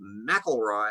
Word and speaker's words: McIlroy: had with McIlroy that his name is pronounced McIlroy had always been looking at it and seeing Leroy and oh it's not realize how it's pronounced jesting huh yeah that